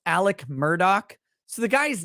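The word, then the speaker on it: Alec Murdaugh: is how it's spelled Alex murdaugh and is pronounced Alec Murdock so the guy's name is a lie I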